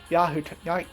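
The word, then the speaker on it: Yahiko: Path, which he recognizes as Yaiko, that's how you pronounce his name, and basically talks to Nagato through Yaiko, telling him, regrets, basically doing his own version of talking no jutsu.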